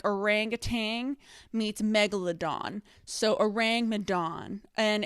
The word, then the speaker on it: Ourang Madan: orangutan meets megalodon so orang madan and it kind of rhymes with like dong so like the orangutan